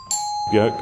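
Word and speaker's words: Björk: high profile celebrity clients jerk or york depending on how you want to pronounce it i made a custom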